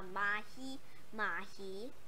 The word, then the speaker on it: mahi-mahi: Yes, it's called a Mahi-Mahi because, okay, I'll show you guys how to pronounce that. M-A-H-I-M-H-A-I. That's how you pronounce Mahi-Mahi.